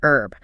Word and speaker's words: herb: Americans notoriously drop the H, pronouncing it herb.